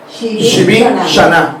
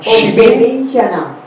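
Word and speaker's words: שבעים שנה: La expresión 70 años en hebreo es Shin Bet Men y Shin Aleph Nun Hei, y se pronuncia Shivin Shana. Shivin Shana.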